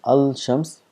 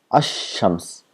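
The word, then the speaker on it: الشمس: Al to Shams so we don't pronounce as Al Shams we make this lamb silent and we give shha to the word next to it then becomes Asam as the lamb does not exist Asam so what are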